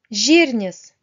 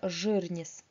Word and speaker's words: žirnis: Правильно произносить žirnis, мягко. Ни в коем случае не жирнис. Как хочется под влиянием русского языка, так как после «ж» обычно произносим «ы». Вот, так не делайте.